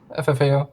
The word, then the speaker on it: ffao: I say it as four letters. You say it as? Four letters. FFAO.